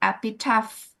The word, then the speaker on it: epitaph: Now, what about epitaph? Is that F, right?